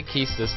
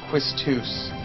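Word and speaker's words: Quistis: Yo, I say Kistis the way you're supposed to say it. That's actually not pronouncing it wrong. It's Quistus.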